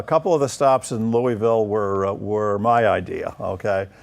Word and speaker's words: Louisville: COS a canoe evil Kentucky or Louisville as they pronounce it I guess was our